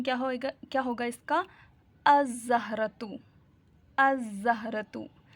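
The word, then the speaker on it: الزهرة: अज़हरतु, अज़हरतु, the flower. अज़हरतु क्यों होगा? क्योंकि जाल जो है वो लेटर सन लेटर्स में से है।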